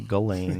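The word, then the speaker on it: Ghislaine: Galain. The SS. I think you say Galain. Yes, that's right. What uh language is that? They would they would say Galain spelled like that, I believe.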